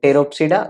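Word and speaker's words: Pteropsida: कौन कौन से हैं, तो पी देखो हर जगह साइलेंट है, क्लियर है ना। सिलोप्सिडा जिसका एग्जाम्पल है सिलोटम, देन लाइकोप्सिडा जिसमें सेलिजनेला and lycopodium, then फिनोप्सिडा that is Equisetum, then टेरोप्सिडा that is ड्रैप्टेरिस, terrace and Adiantum.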